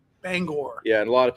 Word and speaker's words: Bangor: pronounce that? Bangor. Bangor.